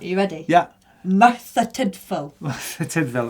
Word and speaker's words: Tydfil: Tidville. Apparently that's how you say it.